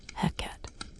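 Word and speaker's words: ḥnqt: They called it HQT, roughly pronounced heck, and it was absolutely fundamental to Egyptian society, consumed by everyone from pharaohs to the humblest laborers.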